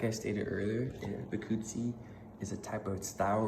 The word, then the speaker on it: Bikutsi: So this I pretty much put like pronunciation, so it's called Bikutsi.